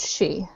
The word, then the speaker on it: Sidhe: really at him, but She looks at the two she and she's like, "All right, she, explain yourselves to him, please." He is called a she. She is spelled Sidhe.